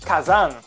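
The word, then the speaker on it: 火山: Então, aí vem a leitura chinesa. Assim formamos a palavra kazan, que em japonês significa vulcão.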